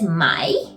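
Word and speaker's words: Mai: German would pronounce it then we have may which is my it's similar but again they took the Y off and added an i actually in German y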